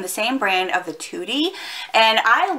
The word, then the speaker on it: Tutti Dolci: these, Tutti Dolci, and it is pronounced Tutti because I asked while I was there the other day.